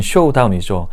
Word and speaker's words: showdown: There's going to be a showdown. 올바른 발음은 쇼다운이죠. 쇼당이라고 많이들 발음을 하시는데 얼핏 보면 꼭 일본어가 변한 것이 아닌가라는 느낌을 주기도 합니다만 내가 가지고 있는 패를 보여준다.